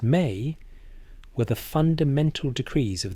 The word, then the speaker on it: me: The mi pronounced may were the fundamental decrees of the universe.